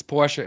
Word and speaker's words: Porsche: Fant pora and it's Porsche Americans just cut or British Speaking people english- speaking people they just cut the off they don't they don't pronounce the e at the end but well the American